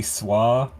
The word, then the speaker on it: Soi: it's not actually pronounced soy animatic I've said that wrong the entire time to be fair I also say it but technically it should be SWA because it's um if